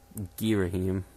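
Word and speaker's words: Ghirahim: as well and um to me it sounds just girohim and not much from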